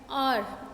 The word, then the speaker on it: hour: आर, हवर नहीं होता, HOUR, हवर नहीं होता, R होता है.